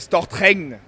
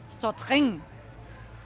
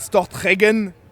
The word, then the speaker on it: Stortregn: Aiken almost almost more like stop Kangna stop thing not stop Hagen stop hanging so now